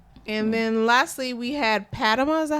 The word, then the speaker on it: Padma: And then lastly, we had Padma. Is that how you say her name? Padma.